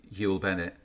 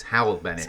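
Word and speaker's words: Hywel Bennett: I need to be careful now, because all of my life and from when I was a kid, I pronounced Hewell Bennett, but it's Howell Bennett.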